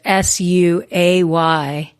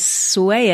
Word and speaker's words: Suay: It's SUAY Sew Shop, SEW SHOP, Suay Sew Shop, Suay Sew Shop, however you want to sway it.